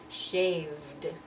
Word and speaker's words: shaved: voice so realized and then shave that sound is also voiced shaved so we go down